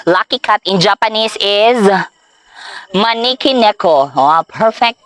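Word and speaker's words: Maneki Neko: Lucky cat in Japanese is Maniki Neko. Oh, perfect pronunciation. Maniki Neko.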